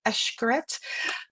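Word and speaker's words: Xcaret: And then if you start getting into um oh Eshkaret, we should always mention Eshkaret. We're talking about all-inclusive. That's Ashkaret with an X. Xc if you're wondering how you pronounce it. It's Eshkaret.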